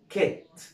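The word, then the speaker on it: kit: يعني دي كلمه احنا قلناها ايه؟ كايت. برافو عليك. لكن دي هتتنطق تبقى كيت. خدوا بالكم ايه فرق بين النطق، شوف حرف الاي بيغير نطق الكلمه تماما. يبقى عندنا دي اسمها كايت لكن دي اسمها كيت.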